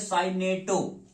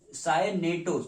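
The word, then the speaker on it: cyanato: अच्छा देखिए यहाँ पे एक जब O लगा हो और CN हो OCN माइनस तो यहाँ बोलते हैं साइनेटो। अब यहाँ पे बोलते हैं साइनेटो, देखिए स्पेलिंग फर्क है, यहाँ पे साइनाइडो है, यहाँ पे साइनाइडो है, यहाँ पे साइनेटो है।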